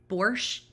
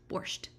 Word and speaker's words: borscht: turned our beets into borscht ends with a t so i feel like you should say the t right or my husband corrects me when i don't say the t borscht um it's like beet